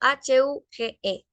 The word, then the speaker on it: huge: como una ca Okay la h en inglés no es muda se pronuncia como una ca